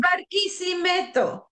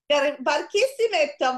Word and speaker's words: Barquisimeto: Barquisimeto. Barquisimeto, Venezuela, on March 1970.